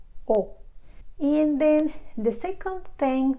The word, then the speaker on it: を: EE Oh in Japanese it is actually pronounced as if it was just the letter O oh and then the second